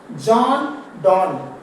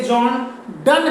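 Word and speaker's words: John Donne: poem के poet है जॉन डॉन जॉन डॉन कुछ लोग इसे जॉन डन भी पढ़ते हैं लेकिन सही उच्चारण होना चाहिए जॉन डॉन दूसरा जो पोयम है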